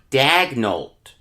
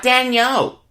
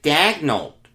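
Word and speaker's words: Daigneault: their next head coach mark dagnolt not danielle he pronounces it dagnolt according to wikipedia i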